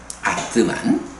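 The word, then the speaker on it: ātman: 아뜨만. 그러니까 ATMAN으로 쓰는데 아뜨만이라고 읽어요.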